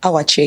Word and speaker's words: Awachie: How do you pronounce that? Awachie, yeah, you got it.